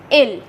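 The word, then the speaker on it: ils: and the pronunciation is ill remember we will not pronounce the last letter which is s s is silent here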